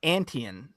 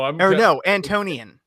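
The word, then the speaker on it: Antonion: It's pronounced Antian. No, Antonian.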